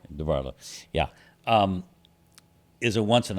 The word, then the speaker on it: DeBartolo: yeah, Did I pronounce his name? Yeah. Right? DeBartolo.